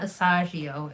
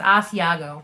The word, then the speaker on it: Asiago: It's not Asagio. It's Asiago, right?